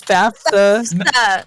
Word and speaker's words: FAFSA: doing my fafsa no you're saying it incorrectly rosie it's fafsa it's fafsa yes you